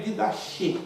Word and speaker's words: didache: Se escreve didache, mas se pronuncia didache.